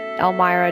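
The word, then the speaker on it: Elmyra: you do end up staying here the night elmira does tell you to leave so this is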